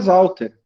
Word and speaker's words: Sautter: o meu sobrenome é salter tá então o deter se escreve de e mas se pronuncia só o ir tá bom o sal ter se escreve com s mas se pronuncia como o z Nossa que complicado né